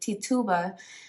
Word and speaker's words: Tituba: Islander okay of course to table to Tiba Tituba to Tuba I would like to say I want to make sure I say her name right Tituba was from Barbados so sure Barbados could be